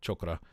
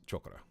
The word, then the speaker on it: chakra: It's not chakra. That's how we say it in the West. If you want to say it that way because that's how Westerners say it. But the idea behind chakra or chakra is that